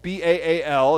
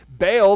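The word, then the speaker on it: Baal: they started to worship bail ba al as we normally pronounce it bail in English bail the god of the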